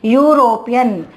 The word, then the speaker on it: European: Here when we pronounce it, the pronunciation is European, union. That means the pronunciation is Y. U sound.